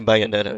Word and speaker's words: Bayonetta: Bayonetta. Okay. I assume some people pronounce it Bayonetta, but no, they say Bayonetta.